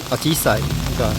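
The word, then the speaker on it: あじさい: Now you can see this hydrangea flower; in Japanese it's called Ajisai, which sounds a bit like the Japanese word "ojisan."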